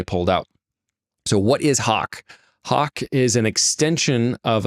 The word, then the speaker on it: HOC: So HAWK is spelled HOC.